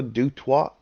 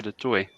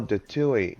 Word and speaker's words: Dutoit: yeah, Is it Dutoit? Is that how you say the whole name? yeah. You can say that. Are you I'm actually from South Africa, so we pronounce it de Toy.